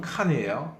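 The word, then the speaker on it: con: 자, 이번에는 또 콘이란 말이 있는데요. 발음은 칸이에요.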